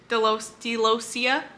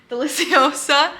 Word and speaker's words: deliciosa: That's a Monstera Delosia. Why did I say it like that? Deliciosa.